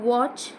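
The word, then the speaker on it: watch: विपर्यास करणे टविस्ट करणे टू वॉच वॉश वॉश वॉचिंग T silent आहे निरीक्षण करणे बघणे पाहणे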